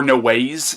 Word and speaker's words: Noé: my review on gaspar no ways now I know it ends with an E but I've heard it pronounced no way but yeah that was